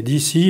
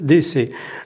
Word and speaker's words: DC: à Washington DC et je dis DC pour le prononcer en français puisque'en anglais on dit Washington DC mais d'ici et les gens vont penser que c'est ici ou ou c'est là-bas. Non, c'est c'est vraiment euh DC.